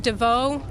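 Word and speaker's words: Deveau: Joining them at the podium will be Watertown Chief Ed DeVoe, D-E-V-E-A-U.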